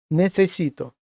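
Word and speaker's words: necesito: Зверніть увагу, як буду вимовляти оце слово нефесіто. Отут ми маємо міжбове с ф несіто, а тут звичайне с нефесіто.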